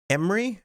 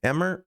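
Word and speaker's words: Emre: So, you could get a voice line for Emery. Emmer, I think it's pronounced Emery. And there's also a title and a background, a banner. You like all the new heroes except for jetpack cat. Emra.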